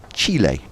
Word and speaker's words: Chile: to steve from santiago chile is that right how you pronounce it no it's not chilly is it chile is that right i think that's how the native country is close to yes